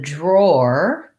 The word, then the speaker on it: drawer: someone who draws um the drawer drawer um is more of an ore drawer um so that's kind